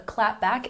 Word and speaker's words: clapback: rude comments so a clapback is a witty response that you give to an insult checking our pronunciation we put the stress on the first syll clap back clap back once again clap back number 16 Squad this